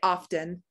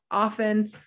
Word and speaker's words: often: t is silent often here's another silent t although i hear people say often for this so this one's a little could go either way but often is how we often say the word often so we don't hear that t castle there's another t